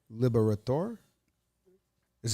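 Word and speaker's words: Liberatore: Matthew Liberatori. Oh, Tori. Oh, so he's with Trev in Italy.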